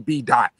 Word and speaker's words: BDaht: So the O I changed for the phonetic spelling of A-H, which is ah.